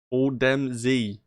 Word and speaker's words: Odemzy: Odemzy, that's me. Odemzy. That's how you say it.